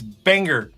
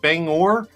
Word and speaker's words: Bangor: It's Banger Banger. Banger man. Banger man. So, a little little inside joke. So, apparently I was pronouncing it wrong the whole time. I kept saying banger, but it's bang bangor.